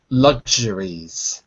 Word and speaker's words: luxuries: that's right uh luxuries notice in the word luxuries there's an X and if you say it slowly it sounds like a c s if you say it quickly it softens to a g so when I say it quickly it sounds like LS lugs or lug not it's not really an S it's a j sound so if I say